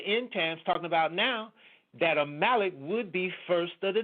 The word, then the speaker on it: Amalek: you're saying there that a malik that's how I I pronounce it some people call it the amulet I pronounce it a Malik or malachite and yah